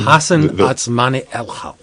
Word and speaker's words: Hassan Otsmane-Elhaou: How do you spell it? Do you know how to say his name? Hassan Otsmane-Elhaou.